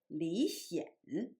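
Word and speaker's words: 李顯: the same in English, but in Chinese, one of them pronounced in the second tone, and the younger one's name pronounced in the third tone. So one is Li Xian, and the other one is Li Xian.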